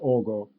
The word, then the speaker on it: Aagaard: His last name is pronounced Ogo. I cannot do that properly.